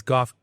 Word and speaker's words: Goff: we got John and Goff in the house from Polera Technologies. That's Goff spelled like cough, not like Jared Goff.